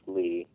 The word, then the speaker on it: Lea: I play the character Lee, even though it's spelled Lea, it's pronounced Lee, and that's kind of a precursor to Axel, but it is Axel.